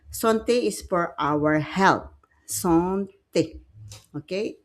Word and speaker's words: santé: Santé. Okay. A is pronounced comme un E.